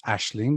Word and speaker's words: Ashling: co-founder of ashland school it's pronounced ashling because i was in ireland when i come up with the ingenious name and over here people don't know how to pronounce that so it really wouldn't